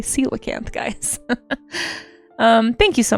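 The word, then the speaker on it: coelacanth: Um, see, I always when I didn't hear this word pronounced, I always pronounced it colacanth. Did anyone Surely I'm not the only one, right? A lot of people probably did that. Uh, colacanth. Um, there we go. But it's actually celacanth, guys.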